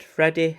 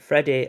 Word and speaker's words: Friede: I think it's spelled Friede. I think that's meant to be said Freddy.